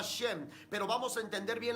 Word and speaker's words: Shem: Entonces, quien apareció en aquel tiempo fue Shem, el hijo de Noé, Sem, que en el hebreo se pronunciaba Shem.